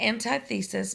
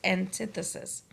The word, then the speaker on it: antithesis: I know it looks like antithesis, but we pronounce it as antithesis.